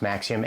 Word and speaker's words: Maxim: At least I think it's pronounced Maxim, M-A-X-I-U-M.